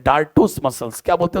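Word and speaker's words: dartos: एक एक मसल होता है उसको बोलते हैं डाटो मसल्स क्या बोलते हैं उसको डाटो मसल्स इस ditto spelling D ए आर टी ओ S ditto muscles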